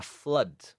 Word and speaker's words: flood: in english is a flood it rhymes with blood like sangre rhymes rimakon